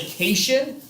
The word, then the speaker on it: cation: So when I see this, I want to say cation, which makes me think vacation, and that is a very, very positive.